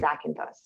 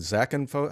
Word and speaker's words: Zakynthos: lot of Brits retire to the island in Zakynthos.